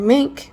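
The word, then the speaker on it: Meink: Now, Air Force Secretary Troy Mink, I think is how you say it. It's M E I N K. That's how you spell his name.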